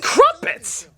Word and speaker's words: crumpets: Don't get me wrong, it's impressive, funny, and the Muppets are great, but it's friggin' crumpets! So it rhymes with Muppet.